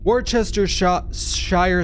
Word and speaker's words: Worcestershire: pronounces it like, oh, Worcestershire sauce is pronounced Worcester sauce.